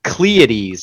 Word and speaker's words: Caelestes: It's like Caelestes, isn't it? Pleiades. It's like Pleiades. Pleiades with a C. Pleiades, yeah, because it sounded like Pleiades.